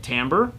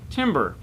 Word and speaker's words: timbre: wrong some people say timbre some people say timber either way it's not a tree falling in the forest what it is it's